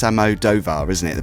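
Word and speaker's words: Almodóvar: I always get his name wrong. I used to say Almodovar, but it's Almodovar, isn't it?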